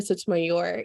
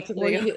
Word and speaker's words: Sotomayor: Did I say it Yeah, Sotomayor. Yeah. Or Sotomayor. if you're in the Midwest or don't roll your R's, you can call me too. Both ways.